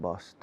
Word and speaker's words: bossed: Do you like to be bossed around, bossed around, bossed around? Suena a Boston, ¿no? Bossed around. La T de bueno, no hay T, es ED de bossed. El final se enlaza.